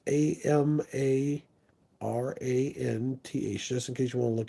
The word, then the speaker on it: Amaranth: It's Amperthan, I think is how you say it. It's AmaraNth.